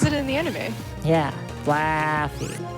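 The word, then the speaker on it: Flaaffy: flappy's name like that you have to say fluffy because the eight there's two a's that's how it says it in the anime yeah flaffy i like that pronunciation a lot would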